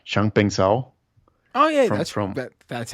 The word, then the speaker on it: Changpeng Zhao: meeting with sorry if I butcher his name, Changpeng Zhao.